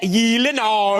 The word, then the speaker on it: Gyllenhaal: It is a Swedish name. So shouldn't it be like Gyllenhaal? Oh my God. I have Gyllenhaal. The only two places that is pronounced correctly, my last name, like you did just now, is in Sweden and in IKEA.